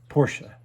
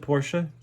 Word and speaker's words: Porsche: you can't say uh porsche why is it porsha because that's the way pronounced the family name porsche a need there for a reason porsche and if you're